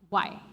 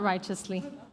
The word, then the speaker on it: riotously: It's riotously. Riotously. We're just going to leave it at that. No, it's not righteously. It's riotously. From riot, riotously.